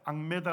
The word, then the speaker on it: 악메다: 부릅니다 엑바 하나라고 하는데 성경에서는 이제 악메다 아고 발음을 합니다 입 거기에 그 돌에